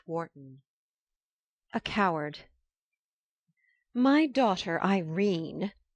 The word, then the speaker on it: Irene: My daughter Irene, said Mrs. Kstyle. She made it rhyme with Tene has had no social advantages.